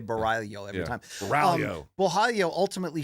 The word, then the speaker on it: Borralho: times in the broadcast, so I can say Borralho. I don't have to say Borralho every time.